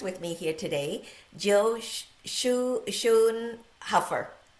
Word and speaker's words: Schoenhofer: I have a very special guest with me here today, Jill Schoenhofer. Did I say it correctly? Schoenhofer. It's tricky. Schoenhofer. So close. I know.